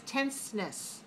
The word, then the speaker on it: tenseness: And what's the syllable stress code? Tenseness. 2, 1.